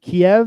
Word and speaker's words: Kyiv: Is it Kiev? Is that how you say it? So Kyiv.